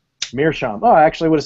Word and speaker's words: meerschaum: Meerschaum.